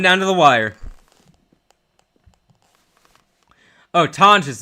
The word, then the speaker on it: Tonges: Oh, Tonges apparently is how you say his name. I've been saying Tongs because I never hear his name. My bad. I'm saying it wrong.